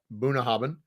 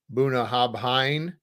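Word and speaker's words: Bunnahabhain: don't know Boone hobbin so yes that's how you pronounce that Buna haben not Buna hobhine moonahoben uh delicious dram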